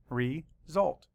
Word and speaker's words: result: It's wide open, and it makes a long vowel sound.